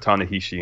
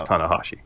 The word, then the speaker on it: Tanahashi: or did I say or is it tanaa tan you put tanishi in the script but I think it's tanahashi it's tanahashi yeah I'm new to New